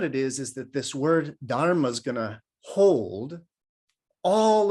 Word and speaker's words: dharma: So dharma, that's the best I can come to its kind of proper Sanskrit pronunciation because it's a D-H-A-R-M-A, so it's dharma.